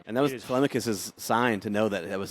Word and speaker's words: Telemachus: I mean it, And that was it is Telemachus' sign to know that was his dude.